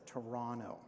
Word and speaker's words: Toronto: those who have now dropped the second T in Toronto and just pronounce it as Toronto.